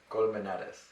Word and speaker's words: Colmenares: nickname me that before just because that's what it sounds like in Spanish also. Yeah, and then in Spanish it's camarones, and my last name is Colmenares.